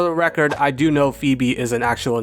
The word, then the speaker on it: Phoebe: For my entire life, I pronounced her name as Phobe. Like Phobia cuz she's a ghost type trainer and all.